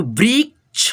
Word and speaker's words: वृक्ष: इसलिए हम लोग इस छ से पहले आधा क का उच्चारण करते हैं, ठीक है। तो वृक्ष, वृक्ष।